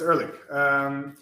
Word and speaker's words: Ehrlich: So it will be Ehrlich. Yeah, that's how you pronounce it. Yeah, it's Ehrlich.